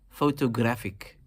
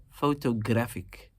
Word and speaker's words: photographic: And if you were to replace the ER with an IC, how would that then be expressed? Photographic. Photographic. You're emphasizing the third syllable in this particular case.